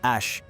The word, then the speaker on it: Æ: Quer dizer, é só X a letra X e o A e se pronuncia Ash e o A12 é minha contribuição.